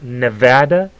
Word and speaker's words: Nevada: it's it's it's Nevada the state is pronounced Nevada like hat Nevada and it's Azog